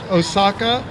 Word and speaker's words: Osaka: Last name spelled like what us Americans would say, Osaka, O-S-A-K-A.